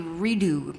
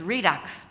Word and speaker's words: redux: I thought it would be redo, but it's redux.